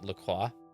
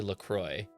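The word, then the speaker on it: LaCroix: but I hate um I can't stand LCROY because that's not how it would be pronounced. It would be pronounced like Lqua. It would not be Lacroy. Even if that's how the company pronounces it, I can't get over the fact that that's technically wrong.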